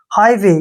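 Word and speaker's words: highway: हाई और यहां पर जी एच हमेशा साइलेंट रहता है ठीक है ना एच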